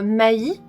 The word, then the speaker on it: Mai: Ici, on va suivre Mai. Alors, ça s'écrit M-A-I, mais j'ai bien demandé à ma sœur qui apprend le japonais, ça c'est bien Mai.